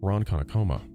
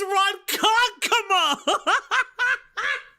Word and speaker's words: Ronkonkoma: Specifically, and forgive me if I mispronounce this, Ronkonkoma, a small Ronkonkoma! It's Ronkonkoma!